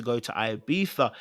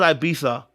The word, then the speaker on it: Ibiza: Okay, so I didn't know it was pronounced with a Z like that. I didn't know we pronounced Ibiza with a Z like Ibiza.